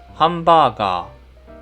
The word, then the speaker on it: ハンバーガー: 最初に長く伸ばす音です。日本語では 1 つの文字が全部同じ音の長さで発音されます。ですから例えばこれはハンバーガーと発音します。長い音をしっかり意識してください。